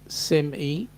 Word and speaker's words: semi: trailer semi and Sean it's it's pronounced Sim e oh I see one